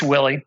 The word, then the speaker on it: Wiley: you call him Jim his name's James L Wiley or you go on Willie it's Willie it's Willie Jim Willie I'm when he starts